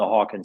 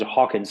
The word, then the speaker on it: Hawkins: thing because it is the consciousness level on the Hawkin scale that's the proper way to say it um you know but then you know people you know use it as Hawkins level also and I I do that too so it's interchangeably it is all the